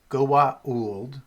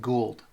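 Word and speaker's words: Goa'uld: So, Goa. And what's what's interesting in the show is that some people will pronounce it Goa. Goa. Goa-en. And other people will just pronounce it Gould.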